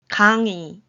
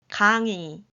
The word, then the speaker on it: 강의: So the next two words are pronounced like these. 강의, 강의, 흰색, 흰색, As you can see, letter 흰 in 흰색 uses 히읗 instead of 이응 to make up the letter.